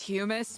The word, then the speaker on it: hummus: Hummus. It's, you know, it's natural grown from the ground. Oh, if you want to be pedantic about it, it is pronounced humus, but no one wants to say it like that.